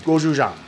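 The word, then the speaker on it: 고추장: Goju jang is how it that's how it's pronounced phonetic. It's called goji jang.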